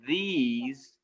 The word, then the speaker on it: these: it now this is these it starts with th the e here you say its name because this second e is silent did you even know that these you don't hear that second e all right cadence it's